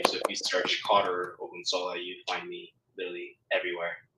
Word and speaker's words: Ogunsola: My last name, you guys might not can't pronounce it, but my last name is Ogunsola. It's Ogunsola. So if you search up